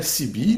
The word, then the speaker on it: CB: bien, vous avez la CB, donc la bande des 27 mégas. CB, ça s'écrit C-I-B-I, voilà, la bande des 27 mégas,